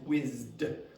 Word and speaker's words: whizzed: Now, the pronunciation of this is whizzed. Why? Because this thing is vibrated. Okay, so again, there are rules about this, and it has to do with the vibration of your vocal cords.